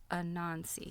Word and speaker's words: Anansi: People across West Africa attributed their spinning skills to Anansi, yes, I'm pronouncing that right, a spider deity.